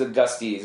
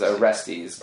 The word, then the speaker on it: Orestes: Oh, I could say, I thought it was Augustes, but it was Orestes. Orestes.